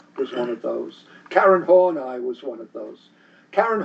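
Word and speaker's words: Horney: Karen Hornai was one of those. Karen Hornai, her name is spelled H O R N Y.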